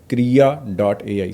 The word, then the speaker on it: Krea.ai: इस केस में एक टूल है जो मैं पर्सनली भी यूज़ करता हूँ, उसका नाम है Krea.ai, स्पेलिंग है KREA.ai।